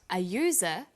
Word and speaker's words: user: say an umbrella but a user because user sounds like it begins with a y a and an are